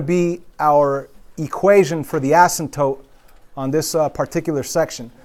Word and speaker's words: asymptote: Now, the word asymptote, do not pronounce it asymptote, right? It's asymptote.